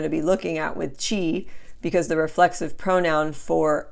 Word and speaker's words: ci: about some pronunciation rules when the letter c is followed by an i or an e it always sounds like CH when the C is